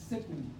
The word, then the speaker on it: caecum: También se le denomina, o ustedes lo van a encontrar como caecum, y se pronuncia secum, pero significa ciego, foramen ciego.